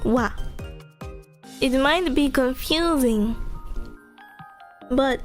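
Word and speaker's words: は: but in that context, ha is very mostly pronounced wa.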